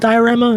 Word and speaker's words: D10RAMA: is a developer which I think is pronounced diorama even though it's like d one zero but you know stylized